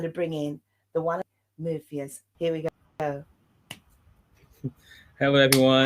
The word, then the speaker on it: Muffius: Everyone gets it wrong, but it's Muffius.